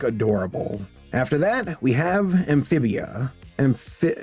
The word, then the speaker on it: Amphibia: After that, we have Amphibia. Yeah, I'm saying it right. Amphibia.